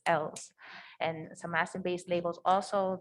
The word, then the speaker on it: ELL: English language learners is actually what the students go by, which is usually pronounced Ls. A lot of people say ELL, but it's Ls.